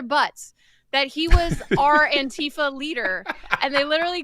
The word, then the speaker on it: Antifa: He's the leader of this Antifa group. She pronounced it like Aunt Tifa.